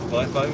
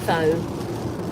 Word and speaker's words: VIOFO: Might be a VIOFO. Yeah. FIFO, is that how you say it? FIFO. Oh, it's a word, not a code.